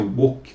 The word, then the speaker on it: woke: Ou woke, mas se pronuncia woke com W, W-O-K-E. É um termo político, a